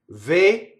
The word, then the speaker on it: Vergin: So in Italian, none of that happens. Vergin, you see? So A-R, the A and the R have nothing to do with one another. I is always E. And in this case, G-I is G.